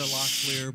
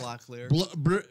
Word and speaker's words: Locklear: Like Heather Locklear, Bruce Locklear.